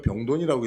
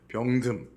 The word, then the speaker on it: 병듦: 병든이니까 병돈이라고 읽히네요. 예, 병돈이 아니고 병듦.